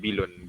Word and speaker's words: bilun: In Brunei we call it bilun, bilun.